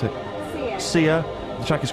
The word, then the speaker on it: Sia: How do you pronounce it? Sia.